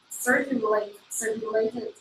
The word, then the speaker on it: circulate: The principles remain the same as Buddhism circulated. No, first time is correct. Circulated. Yeah, circulate. Accent on the first syllable.